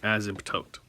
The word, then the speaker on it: asymptote: y m p t o t e it's pronounced asymptote right an asymptote is a line that approaches